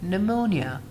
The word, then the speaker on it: pneumonia: We have an N right after P. So how do we pronounce it? We pronounce it like pneumonia.